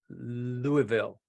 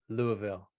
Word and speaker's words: Louisville: paser robas California and uh yes the S is silent Louisville got it Louisville uh Tim Tim from Bimmer PhD Motorsports Pasadena